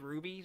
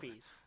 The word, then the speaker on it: rupee: Rupees. Gems. It's spelled R-U-P-E-E. Whatever. It's I don't want to with see P UP. at the end. R-U-P. What is it then? Rupees. I've been saying rubies.